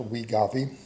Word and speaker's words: Wegovy: I believe it's pronounced Wegovy.